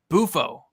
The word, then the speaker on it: Bufo: We got Buffo saying, Brady, by the way, it's pronounced Bufo. Bufo, I got you.